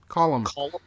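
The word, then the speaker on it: Colm: like okay yeah it it sounds like you know like a building column or something like that well building column and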